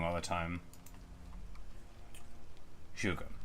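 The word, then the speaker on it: 诸葛: Zhuge? Okay, the G-E at the end. Yeah. I know that the ZH is like the J sound, I just say it wrong all the time. Zhuge, not Zhuge.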